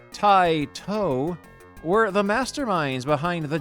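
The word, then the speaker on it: Taito: Space Invaders the programmers at Tio pronounced Tito were the masterminds behind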